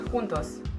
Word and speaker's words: juntos: Das U wird genauso kurz ausgesprochen. Beim U fällt es aber meistens auch nicht auf. Wie zum Beispiel bei einem Wort juntos. Juntos.